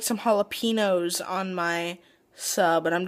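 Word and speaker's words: jalapeño: I would like some jalapenos on my sub and I'm just like that's not how you say it it's jalapeno there is an accent mark over the n learn how to speak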